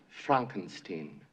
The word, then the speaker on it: Frankenstein: That's Frankenstein. I beg your pardon? My name, it's pronounced Frankenstein.